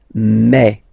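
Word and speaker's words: mes: So for the phonetical or pronunciation aspect of it then remember that this uh s here combined will give you the sound e. Okay. So you'll pronounce it like me.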